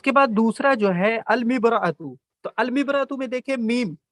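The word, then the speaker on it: المرأة: اس میں نہیں کہہ سکتے امبرأتو. ٹھیک ہے، امبرأتو نہیں کہہ سکتے، بلکہ اس میں الف اور لام دونوں کا تلفظ ہوگا. المبرأتو، المبرأتو. ٹھیک ہے.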